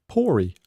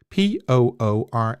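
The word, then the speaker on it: Poore: actually chosen by Ben pory I think you I I think you have to pronounce the E on the end of it p o o r e Ben if you want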